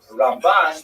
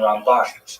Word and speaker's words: Ramban: Rambam and Ramban is pronounced with the emphasis on the second syllable. Rambam and Ramban.